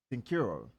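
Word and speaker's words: Cincoro: How would you say that? Sincuro. Like Cinco. Yeah. Okay, so Sincuro. Sincuro tequila. Michael Jordan and his partners worked for years to develop Sincuro tequila that's smooth to the palate with rich complex flavor.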